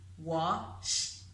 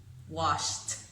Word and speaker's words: washed: So that ED ending, we will pronounce it as a T, washed, washed, washed.